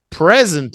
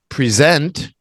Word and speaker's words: present: someone gives you but same same spelling different pronunciation present is to stand in front of class and do a presentation to people I present this idea to you to present a new product but now I need